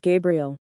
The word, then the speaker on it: Gabriel: masculine name is pronounced Gabriel the feminine name is pronounced Gabrielle the difference is in the gay and GA sounds hope the difference is